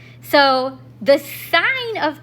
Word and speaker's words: sine: We abbreviate sign as three letters, S I N, but we pronounce it sign every time.